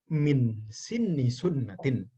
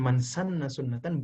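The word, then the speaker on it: مَنْ سَنَّ سُنَّةً: Min sinni sunnatin. Bukan man sanna sunnatan.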